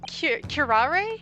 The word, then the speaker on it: curare: They emphasize that last little bit. Even the slightest amount of this deadly poison entering the body leads to instant death. Objection! What complete and utter nonsense! Curare, you say?